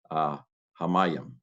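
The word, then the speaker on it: הַמַּיִם: Hey, patak, doubled mem, patak, yod, hirik, final mem, hamayim.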